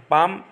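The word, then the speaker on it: palm: पाम, L silent है इसमें पाम, listen में टी साइलेंट है लिसन, डाउट में बी साइलेंट है डाउट, और कॉम में भी बी साइलेंट है कॉम।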